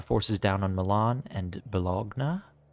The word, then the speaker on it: Bologna: down on Milan and balogna which is actually bologna not balagna um and then that's